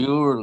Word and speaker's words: jewelry: No, we only pronounce this one, the first one, and the last one. We don't pronounce this. So we say Yuri store. We don't say Yuri or Yuri. Yeah, it sounds weird. So we say only Yuri store.